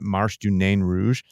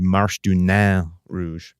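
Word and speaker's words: Marche du Nain Rouge: me that I know everybody pronounces it Marsh do nain Rouge but you know that we're a town full of French names here and it would really be Marsh to now Rouge just like Dequindre would technically be dick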